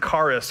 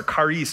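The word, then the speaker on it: χάρις: Grace, this word in the Greek, sometimes you've heard it, charis or charis, depending on how you say it.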